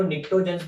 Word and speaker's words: pnictogens: अगर हम लोग बात करें ग्रुप नंबर 15 की, तो इनको निक्टोजेंस भी बोलते हैं, P silent, निक्टोजेंस, इट्स a Greek word.